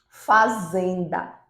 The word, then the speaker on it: fazenda: Por exemplo, se nós falarmos fazenda, fazenda, o zen é a sílaba mais forte.